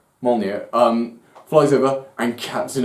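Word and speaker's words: Mjölnir: called more near the J is silent Mallya um flies over and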